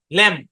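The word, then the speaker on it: lamb: আসসালামু আলাইকুম স্যার শব্দের শেষে এমবি থাকলে বি সাইলেন্ট যেমন এল এম বি ল্যাম বি ও এম বি বম সি ও এম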